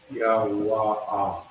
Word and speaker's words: Yawa'ah: Yep, drop the A for the love. Yeah, Yawa'ah. Yawa'ah. There you go. That's perfect. Yawa'ah. Yes. Yawa'ah is how you pronounce it.